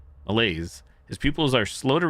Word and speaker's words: malaise: Malice, it's not malice. Malaise, his pupils are slow to react, and he has noted visual manifestations.